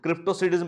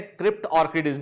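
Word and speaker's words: cryptorchidism: कुछ लोग इसको क्रिप्टोसिडिज्म पढ़ते हैं, पर इसका सही प्रोनाउंसिएशन है क्रिप्ट ऑर्किडिज्म के।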